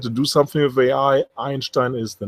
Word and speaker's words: Einstein: view keep in mind it is Einstein that's how the men call himself not Einstein so at least pronounce it correctly uh if you put so much money in there it's just my five cents and I can say Einstein with authority being a German native speaker as you can hear